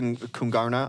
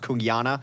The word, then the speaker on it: Kungarna: possibly lose to k kungarna um I was pronounced it's supposed to be pronounced kyana sorry I'm American I'm G to call it Kung um so that one